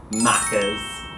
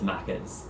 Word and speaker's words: McDonald's: scottish name mcdonald's okay i say mcdonald's if i was to say the full thing mcdonald's so i guess quite close to yours but of course macas because in australia we have to shorten everything so yeah everyone pretty much says makkers yeah we have a short